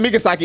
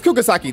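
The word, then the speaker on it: Kugisaki: I said Migasaki. It's Kugasaki.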